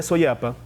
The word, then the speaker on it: Soyapa: En cuanto al origen del nombre de Soyapa, vamos a explicar un poco esto. La pronunciación de este vocablo es Soyapa, que más tarde se convirtió en Suyapa.